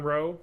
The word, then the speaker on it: Rowe: my name constantly Rowe they say rowie yes like the Dirty Jobs guy it's fine yeah I know right it's just like it's row just the E is silent just say row um Adam said uh